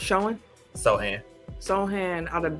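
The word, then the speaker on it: Sochan: but i really love jeremy showing they pronounce showing so ann sohan out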